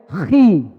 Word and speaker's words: chi: Kalau X dalam bahasa Yunani dibaca apa? Dibacanya chi. Bacanya apa? Chi. Bacanya chi.